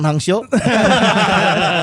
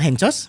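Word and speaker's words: Henchoz: Oh iya, Liverpool punya Semi Hipia sama Stefan Hangso. Iya. Stefan Hangso saja. Ya itu Stefan Hencos. Oh iya. Kan dibacanya Hangso. Oh nya. Hangso dibacanya. Aing apalah Hencos. Dibacanya Hangso.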